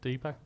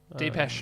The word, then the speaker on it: Depeche: Someone mode Deepak? Depeche Mode. Depeche Mode, yeah. I'm not sure that's how you pronounce it.